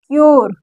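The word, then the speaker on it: cure: ओ पढ़ रहे हैं सी यू आर ई क्यर क्यर देखिए प्योर माने पवित्र शर माने निश्चित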